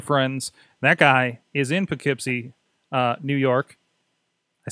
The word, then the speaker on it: Poughkeepsie: lucha new lucha friends that guy is in poughkeepsie new york i said it right tonight that